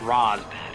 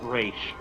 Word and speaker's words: Ra's al Ghul: There are people who will swear up and down it's pronounced Raz. They're not familiar with the source language for his name, are they? Or the fact that Batman Beyond corrected this pronunciation thing in one of its episodes when Terry accidentally pronounces it wrong. Air quotes, Talia tells him father pronounced it Raish.